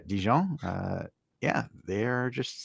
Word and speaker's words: Dijon: is Dion so uh as our Americans say Dijon mustard but uh djon uh yeah they are